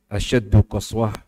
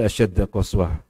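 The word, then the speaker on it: أشد قسوة: Tadi saya bacanya ada yang salah. Asyaddu qaswah. Saya baca asyadda qaswah.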